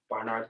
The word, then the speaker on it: Barnard: I know that Columbia had, I was pronouncing it wrong, Barnard College. Barnard, yeah.